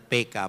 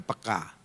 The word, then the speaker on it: peka: Ya, bahasa Indonesia yang benar PK bukan peka. Saudara, jadi bacanya harus gaya Batak, PK gitu.